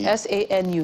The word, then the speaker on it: Sanu: Almost like Sanu in Hausa, but Sanu means gold in Bambara, so in Mali. That's like an S-A-N-U, Sanu.